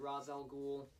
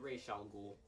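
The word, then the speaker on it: Ra's al Ghul: Some people pronounce it Ras al Ghul, others pronounce it Ras al Ghul. Tomato, tomato, whichever one, I don't care, fans care.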